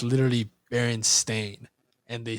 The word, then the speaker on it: Berenstain: A lot of people remember it being spelled and pronounced Berenstein, but it's actually Berenstain, which is. I remember hearing this and I was like, no. And you literally, I googled it, and it's literally Berenstain, and they spelled it with an A.